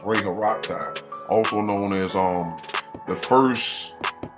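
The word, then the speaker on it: Ra-Horakhty: The last time I said it was Amanu Rakata, I mispronounced that. It's Ray Haraktai, also known as the first dynastic pharaoh.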